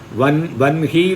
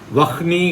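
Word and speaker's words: वह्नि: வன்ஹி தான் உண்டு, வஹ்னி கிடையாது.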